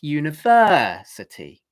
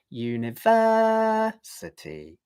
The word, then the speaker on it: university: The thing is that you should not do something like this, university, okay? What I did there was I went down on the accented syllable, university. That is not necessary. And it sounds more like a native English speaker if you just hold the note, university, like that, okay?